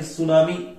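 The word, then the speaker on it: tsunami: मग तिकडून तो शब्द आला तेव्हा काय झालं की हा जो टी आहे तो सायलेंट झाला आणि सुनामी असं वाचलं गेलं.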